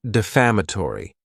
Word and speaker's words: defamatory: Next is the word defamatory. And this word has five syllables and the stress is on that second syllable.